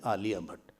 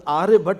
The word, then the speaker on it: Aryabhat: Ra he pronounced as La. He could not pronounce. It was Aryabhat was one of the greatest mathematicians of India.